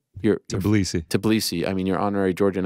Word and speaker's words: Tbilisi: And then here's further scenes in Georgia, in the heart of, how do you pronounce it, GC? Tbilisi.